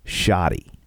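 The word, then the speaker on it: shawty: I believe it's pronounced shoddy.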